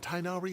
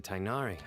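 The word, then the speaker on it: Tighnari: right I forgot that the English stuff pronounces tinari tinari name like that it's supposed to be tinari but for some reason they they pronounce it tinari in in the English dub wait you mean tinari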